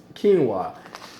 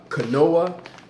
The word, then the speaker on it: quinoa: it is it is quinoa many people may pronounce this as canoa but not to joke I once pronounce this as canoa to that's ok this